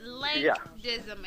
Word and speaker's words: Lank Dizzim: with the air we were talking about the pronunciation of your name it's link dim everybody link you can follow him on Twitter